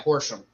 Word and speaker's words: Horsham: horse how do you say it Horsham yeah Horsham I'm not is that like near Philly or